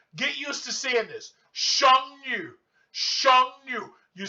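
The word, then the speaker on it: 剩女: Because in Chinese, when you have to pronounce, this sound goes down and then it goes up. So you have to say Sheng Yu.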